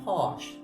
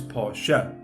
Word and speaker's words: Porsche: properly okay we say posh right so the proper way to say is Porsche right with an e at the end Porsche that's how you say